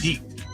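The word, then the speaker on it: piqued: Well, it's just spelled differently. It's still pronounced peaked.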